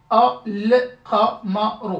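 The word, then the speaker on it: القمر: Là par contre, c'est une lettre lunaire, donc je lis le tout en fait. Al-Qamaru.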